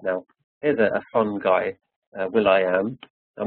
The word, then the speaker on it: will.i.am: His name is pronounced Will.I.Am.